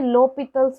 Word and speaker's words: L'Hôpital: एल हॉस्पिटल या उसे लोपितल्स rule भी बोला जाता है, प्रोनाउंस लोपितल किया जाता है, और उसे हम एल हॉस्पिटल लिखते हैं।